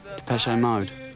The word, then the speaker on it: Depeche Mode: And we chopped off the accent and we just kept the pronunciation. Maybe I can show you just how. Depeche Mode show just how much futurism has changed now it's hit Essex.